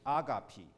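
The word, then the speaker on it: agape: 保罗这里讲的爱是阿嘎皮，它叫 A-G-A-P-E，懂了吧？这是希腊文的发音，翻译成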